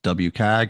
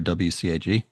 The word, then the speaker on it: WCAG: One is the the common standard itself which some people pronounce WAGG or WCAG.